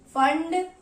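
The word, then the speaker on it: Pfund: ये होती है पाशन सीरीज, ये ब्रैकेट फंड यानी कि पी फंड जिसको हम बोलते हैं, पी साइलेंट होता है, और ये आपको लास्ट में एक हम्फ्री सीरीज दिखाई देगी।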